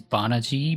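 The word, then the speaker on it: Banagher: characters whose names are spelled one way but are pronounced in a totally different way like the main character to gundam unicorn his name is Bon G but it's spelled b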